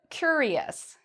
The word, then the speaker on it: curious: Again, we hear e-us. Why are we not saying it like shus? Well, it's because the letter before the I is not a C, it's not a T, and it's not an X.